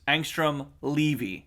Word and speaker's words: Angstrom Levy: So the correct pronunciation is Angstrom Levy.